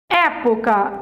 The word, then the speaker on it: época: ela é uma proparoxítona época ante penúltima sílaba ela é uma proparoxítona também então o que você